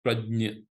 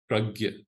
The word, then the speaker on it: prajna: In that complete samatha, as the awareness widens, you reach the sthit prajna, or the pragya, if you like the Hindi pronunciation.